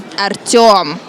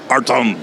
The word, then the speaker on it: Artem: When will you learn to say it right? Artem. Artyom. Artem.